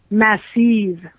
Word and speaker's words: MASSIV: You have to learn how to say it in German. Are you ready? I'm ready. MASSIV.